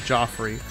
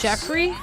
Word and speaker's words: Joffrey: and people don't like Joffrey I'm Invincible what the hell Joffrey yeah Joffrey Offrey with two FS Jeffrey no I believe his name is actually Joffrey Jeffrey is the Butler